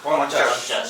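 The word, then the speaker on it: পঞ্চাশ: Ponachas.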